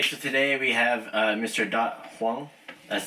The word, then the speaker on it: Dat Hoang: Dat Hoang.